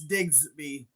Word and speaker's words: Digsby: It's Digsby. Like Diggs.